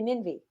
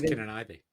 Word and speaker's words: Kininvie: Kininvie. Oh, I thought it was Kin and Ivy.